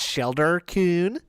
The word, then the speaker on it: Sheldar Coon: It's pronounced Sheldar Coon. It's like Sheldar the Pokemon, I think.